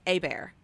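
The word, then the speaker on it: Hobert: We have a family friend who's always said their name is A-Bear. So in my head, nice. I've always pronounced it A-B-E-A, you know, Yeah.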